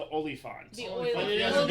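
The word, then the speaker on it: oliphaunt: you want to say it right, it's the Oliphant.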